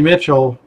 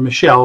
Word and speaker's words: Michel: make the difference and Sony Mitchell or Michelle excuse me it's gonna take me